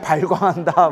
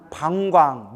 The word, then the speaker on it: 방광: 그때 세존께서 온몸으로 큰 빛을 놓아, 이걸 방광이라고 해요. 뭐라고 해요? 방광. 발광이라고 하면 안 돼요. 우리 지랄 발광한다 뭐 이렇게 표현 쓰잖아요. 그러니까 발음을 잘해야 돼요. 불교에서 뭐라고 한다? 방광, 놓을 빵, 빛을 놓으셨다.